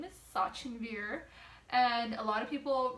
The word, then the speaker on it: Sachinvir: prices though first and foremost my name is Sachi beer and a lot of people refuse to say that refuse to pronounce it even if I teach them correctly